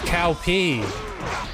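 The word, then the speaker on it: Cao Pi: It's Cow P. That's how they actually, that's the real pronunciation of that name.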